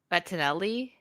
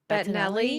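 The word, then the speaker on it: Bettinelli: Uh, Matt Bet Bettonelli. Betinelli.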